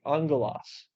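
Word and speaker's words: ἄγγελος: gamma for sure yeah the gamma will make an in sound instead of the G so that's why the two Gammas make Angelos and it just means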